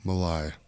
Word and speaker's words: Malae: host Mark McCormack ladies and gentlemen Alan Malai hey I said it right yeah you said